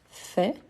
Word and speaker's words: fais: je dis fait mais je ne prononce pas le S sauf que aller et